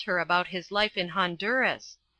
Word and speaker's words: Honduras: about his life in Honduras it is pronounced Honduras and for another 20